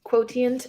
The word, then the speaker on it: Quotient: I keep pronouncing it Kiss Quotient, and I know that's not right. Quotient. I'm like, Quotient! I want to pronounce all the letters. I want to pronounce all of the T's.